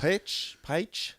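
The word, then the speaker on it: Paich: I never know how to pronounce this. Page.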